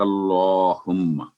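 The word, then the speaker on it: اللهم: سبحانک اللہم و بحمدک، تو یہ سبحانک اللہ نہیں ہے، سبحانک اللہم، صبح پر کلکلا اور ہا کی آواز 2 سیکنڈ لمبی، کیونکہ زبر کے ساتھ آگے الف ہے، اور کلہ اللہ کا نام ہے، اور کاف پر فتح یعنی زبر ہے، تو پر کر کے پڑھیں گے اللہم، سبحانک اللہم۔ آگے چلتے ہیں۔ تو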